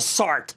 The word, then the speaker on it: Sartre: it's going full jean-paul Sartre you don't pronounce the re we're in a period